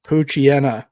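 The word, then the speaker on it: Poochyena: It was a Charmander, Charmina, and Puchena. I asked for Pucha.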